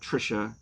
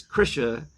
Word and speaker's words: Krisha: Yes, not Christina, not Trisha. Not Krista. It's not Trisha and Bank. That is what, that's Garth Brooks, because he's Bank. He's Bank. And his wife. Lord. It's Krisha and Frank.